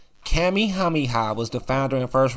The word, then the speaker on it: Kamehameha: His name is Kamehameha. Kamehameha was the founder and first ruler of the Kingdom of Hawaii.